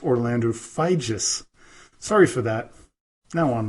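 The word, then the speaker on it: Figes: was mistaken when I called him professor Orlando FID or fides but it is pronounced Orlando FIS sorry for that now on with the show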